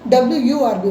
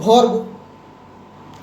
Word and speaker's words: verb: आम वर्ब कहूँ कि वर्ब VERB लिखा हुए किंतु प्रोनाउंस करा जाए WURB वर्ब किंतु कटक साइड भर्ब आम जानू ना कटकियाटा